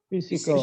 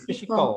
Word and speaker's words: physical: Yang kedua, yang sebelah psychosocial adalah Physical. Coba. Physical. PH itu jadi F. PH jadi F.